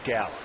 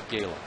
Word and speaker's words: gala: twice driven in three how do you say Gayla or Gala I say Gayla but I think both are correct change up from bastardo